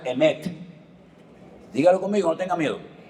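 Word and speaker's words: אמת: Se pronuncia emet.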